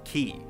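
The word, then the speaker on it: χ: out looks like x-blade the letter x represents the greek symbol for chi which in the kingdom heart series is pronounced as ki the symbol would serve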